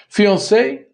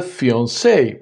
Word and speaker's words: fiancé: The woman who is engaged is called the fiancé with the extra E, and the man, the fiancé. The pronunciation is the same, although the spelling is not, and you can blame the French for that one.